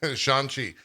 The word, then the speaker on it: Shang-Chi: catch that sean yeah his name is sean shanxi if you're uh if you're worried about spoilers